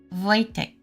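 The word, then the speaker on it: Wojtek: Voytech. Oh, with the accent on the first syllable. Voytech.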